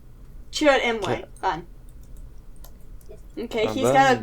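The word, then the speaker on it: Chirrut Îmwe: Leo, you're gonna have to tell me how this name is pronounced because I cannot make his Imwe. name. What? Chirrut Imwe. Chirrut Imwe.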